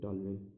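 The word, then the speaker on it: toluene: Spelling उतना मत देखिए आप लोग, इसको बोलते हैं टॉल्यूइन।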